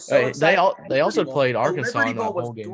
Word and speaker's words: Arkansas: No, I mean it's pronounced Arkansas, but Kansas is going to win.